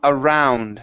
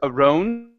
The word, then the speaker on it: around: to the word um around so here um this is an ow sound instead of Aron it's ow uh his